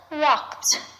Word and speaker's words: walked: in the verb walked the ed verb ending sounds like a t walked even though it ends in the letter d attention over there as